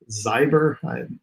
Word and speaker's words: Zyber: other is called the zyber I'm assuming that's how you pronounce it again like cyber but with an x uh we'll start with